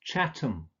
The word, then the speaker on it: Chatham: don't pronounce this ham you usually just pronounce it um so it's not Birmingham but Birmingham its Chatham Dagenham Nottingham Oldham so it's just um